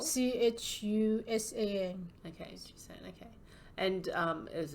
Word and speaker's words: Chusan: It's called SS Chusan. Chusan. Do you know how to pronounce? How it's spelled? CHUSAN.